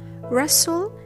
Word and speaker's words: wrestle: In castle, wrestle, and whistle, T is silent after the fricative S and before LE.